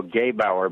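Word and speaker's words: Gebauer: Silas Newton and Leo Gabe our by the way is how you say that I just had dinner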